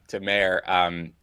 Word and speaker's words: Mayer: My name is Mayer, pronounced the same as Mike Mayer.